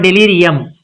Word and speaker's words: delirium: It's a, so it becomes da, da, delirium, delirium, delirium, not delirium, delirium, not yeah.